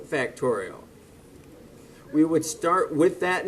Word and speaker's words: factorial: So we could write this as 3 factorial. That is 3 times 2 times 1. 3 exclamation point. That's the symbol of an exclamation point, and that is pronounced, not exclamation point, but factorial.